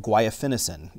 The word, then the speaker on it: guaifenesin: The ingredient's called guaifenesin, and I hope I said it right.